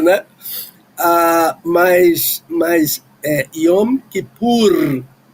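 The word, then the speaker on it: יום כיפור: Ah, mas mas eh Iom que pur. É essa que é a pronúncia.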